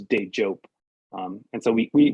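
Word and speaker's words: Dejope: but it's a hard j like jump so it's day joke um and so we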